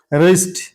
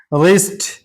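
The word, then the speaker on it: wrist: रिस्ट रिस्ट यहां भी आर से पहले डब्ल्यू है तो डब्ल्यू साइलेंट है।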